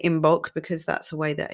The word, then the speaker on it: Imbolc: It's spelt Imbolc, but Imbolc and I think Imbolg is another way of saying it.